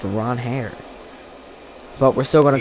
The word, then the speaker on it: Ranger: Ron Hair Suarez because in his opening press in his introductory press conference, he said his name is pronounced Ron Hair, but we're still going to call him Ranger.